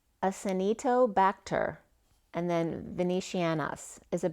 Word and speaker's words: Acinetobacter: So another header then came up was, and I even looked it up to make sure I pronounced it right today, but it's Acinetobacter, and then Venetianus is a bacteria.